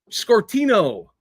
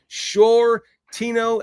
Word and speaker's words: Shortino: Daniel Shortino, but then every time he pronounced my last name, he picked it up. Scortino. One time you got it right, buddy. It's Shortino, and thank you, Bruja, for correcting him.